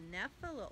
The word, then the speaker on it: Nephila: This particular one, the Nephila orb spider, which I'll spell that for you in case you want to look this up. It's N-E-P-H-I-L-A.